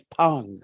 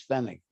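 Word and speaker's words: פנג: Feneg, Pei, Nun, Gimel, and sometimes they pronounce it as Pong. I heard people pronounce it as Pong, and I heard it pronounced as Fennig.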